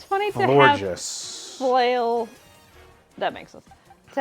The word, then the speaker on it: Florges: It's pronounced Florges.